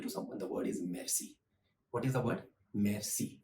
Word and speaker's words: merci: The first greeting, which is quite common when you want to say thank you to someone, the word is merci.